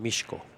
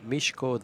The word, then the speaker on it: Mieszko: I like saying that Mieszko that's that's how the polish would say it how would the Americans pronounce it would probably just butcher it huh actually he is